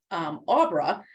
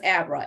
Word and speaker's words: Abra: And so while she was reading the book, she used to always pronounce the character's name, Aubra, but I think technically it was Abra, A-B-R-A, but she loved